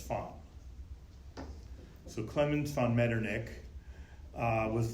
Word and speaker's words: von: Clemens Von medernick now in German the v's are pronounced F so it looks like to us like Von but it's fun so Clements found medernick